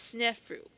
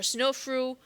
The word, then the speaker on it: Sneferu: And the pharaoh that lived during this transitional phase, his name is Snefru, or Snofru, or Sneferu, however you want to pronounce his name.